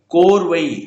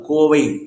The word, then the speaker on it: கோவை: கோர்வை இந்த ர் வரக்கூடாது. கோவை. கோ அப்படிங்கறதுதான் வேர்ச்சொல் சரிங்களா?